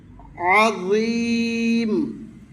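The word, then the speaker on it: عظيم: আজিম আ তিন আলিফ টানতে পারবে দুই আলিফ টানতে পারবে আড়াই আলিফ টানতে পারবে এক আলিফও টানতে পারবে আ মানে এক আলিফ হলেও মদ করে পড়িতেই হবে ফট করে পড়লে শুদ্ধ হবে না।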